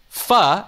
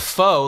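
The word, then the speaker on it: phở: might know that the the Vietnamese soup is called uh uh fur and not foe like it's spelled but then do you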